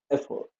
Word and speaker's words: effort: Remember that the stress is on the first syllable F, not the second. Effort.